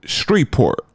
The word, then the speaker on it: Shreveport: So LA then took his black ass to Shreveport. I hope I'm saying that right because I'm not from down south, and I guess the E is silent. So Shreveport instead of Shreveport, Louisiana.